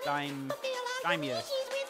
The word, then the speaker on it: daimyo: About the knife chef, it's pronounced daimyo. Oh, is it daimyo?